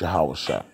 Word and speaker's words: Hosea: man through the Prophet Hosea who's that whose name also is pronounced how sir for they have fled